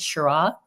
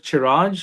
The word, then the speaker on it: Chiraj: Is it Shira? Yeah, it's uh Chiraj. Uh my mother's name is Chetra and my dad's name is Raj.